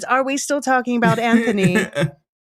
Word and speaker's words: Anthony: the the H is silent, so it's Anthony.